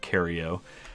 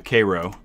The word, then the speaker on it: Cairo: better name for now we're not cario um the k-row squadron it is pronounced k-row uh just so we